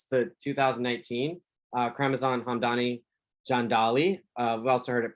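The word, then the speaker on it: Hamdani Jandali: of you this is the 2019 uh chromosome hamdani john dolly uh we've also heard it pronounced john dele but we like to like the sound of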